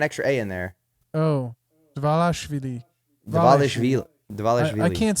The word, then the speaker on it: Dvalishvili: Pantoja, Dvalishvili versus Jan. How you pronounce that That's name? on the me. Dvalishvili.